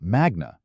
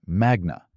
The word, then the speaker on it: magna: It's magna, not magna. Latin accent rules fall on the penultimate syllable when it has a long vowel.